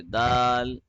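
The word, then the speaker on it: دال: analia you also say Dal Dal yeah now what happens is in the letter Dal the tip of the tongue is touching at the hill the tip of the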